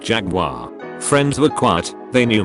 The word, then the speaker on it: Jaguar: were talking cars and I pronounced the make Jaguar. Butthead on the next stool takes the time to lean over and say, it's pronounced Jaguar.